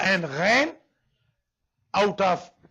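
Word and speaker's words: غ: Number 4, Kha and Ghain, out of 6 huruf halqiyya, last 2 will be pronounced from Indal Halq, the throat which is near mouth.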